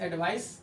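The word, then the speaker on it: advice: अब यहाँ देखना, अगर हम इन दोनों शब्दों को यूज करें, यानी अगर इस एडवाइस स और इसमें एडवाइज जो का उच्चारण आ रहा है, ये उच्चारण में भी ध्यान रखेंगे।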